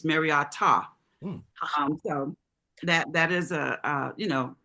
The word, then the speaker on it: Mariota: I think it's pronounced Mara and not Mariota. There's a T. The pronunciation at the end is a T ah.